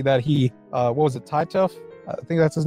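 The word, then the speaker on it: Titeuf: That character, Titouf. Titouf, that's how you say it.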